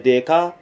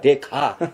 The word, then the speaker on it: dekha: Tujhe deka. And Yunus Bhai said, not deka, dekha. H is there.